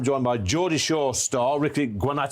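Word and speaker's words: Ricci Guarnaccio: BL ERS at the bar and I'm joined by Jordi Shaw star Ricky guano have I said that right is that Italian yeah it is Italian pronunciation was was pretty much perfect yeah yeah well there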